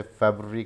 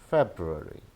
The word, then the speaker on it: February: हम इसे February कहते हैं, हम इसे फरवरी कहते हैं. So these are wrong pronunciations. The correct one is February, February, February.